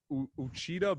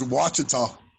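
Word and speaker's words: Ouachita: i'm gonna try it uchida baptist university what how do you say it it's wachata watching i was not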